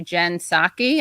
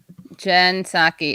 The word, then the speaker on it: Psaki: And I think we should all pay a lot of attention to Jen Psaki, I believe is how you pronounce her name.